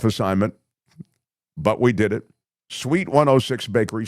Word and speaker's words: Suite: Sweet 106bakery. Sweet, if you're just listening, is spelled s ui t, like a suite of rooms.